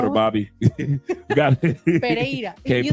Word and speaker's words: Pereira: 2 R's in Pereira. Pereira. Yeah. I spell it P-E-R. I'm Colombia. Thank you. Thank you. You see, us foreigners got it right. Pereira.